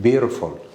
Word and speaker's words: beautiful: Read it like beautiful. Do you know why? There is a rule. If a letter T comes between two vowels, If T comes between